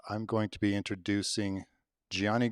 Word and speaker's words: Gianni: And Gianni said, well, please let them know that my name, Gianni Garubo, has both a soft G sound in it, Gianni, and a hard G sound, Garubo.